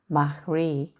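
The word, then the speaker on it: Mari: This is another wind, Mahri, it's actually the way to pronounce it, a Basque wind.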